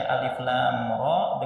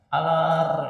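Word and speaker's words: الر: disebutkan huruf yang terputus-putus maka dibaca bacanya itu per huruf bukan menjadi satu kata ya. Jangan sampai ada yang membaca alif lam ro dengan gimana alar ya alar.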